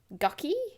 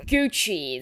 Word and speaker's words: Gucci: on Instagram and stuff that's Versace and that's gucky a helpful helper came to help and caught the end of our conversation she obviously felt that she would pass common error my dear it's pronounced Gucci that's how you say it darling helper looked